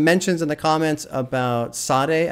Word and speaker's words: Sade: in the comments about Sade I think that's how you pronounce that artist's name Sade got to get into